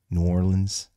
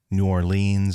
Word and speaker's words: New Orleans: Orleans and let me clarify that it is pronounced New Orleans as opposed to New Orleans or Nolans or any variation as such so